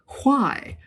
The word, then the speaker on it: why: If you listen to older speakers today who still pronounce the H in these question words, you will hear that they put the H before the W. So it's what, why, when.